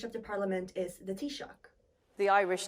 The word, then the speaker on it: Taoiseach: person in charge of the parliament is the t-shock the Irish t- sock to Pro to to discuss this with the EU the Irish tck as you can see some International leaders can